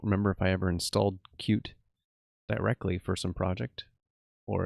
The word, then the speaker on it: Qt: qt package is cute it's pronounced cute um it's a graphics